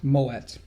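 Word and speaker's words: Moët: him a bottle of Mo or something Moet why why why is it pronounced that because it's dutch it's not French oh I found that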